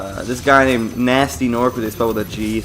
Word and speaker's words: Gnasty Gnorc: like this guy named nasty nor for this fellow that GE so it kind of gets me Bastien or like it spelled like ignored oh looks like a